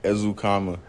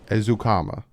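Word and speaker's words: Eric Ezukanma: them right so again it's eric ezukama zukama not ezukana or because i've see i've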